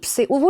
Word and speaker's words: Seville: आप मेरी तरफ से सेवी ज़रूर जाए। उसका स्पेलिंग SEVILLE है, उसको ऐसे सेवी और सवी कहते हैं।